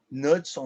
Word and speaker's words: Knudson: A gente tem a teoria do Knudson, com K, Knudson, né? O K é mudo.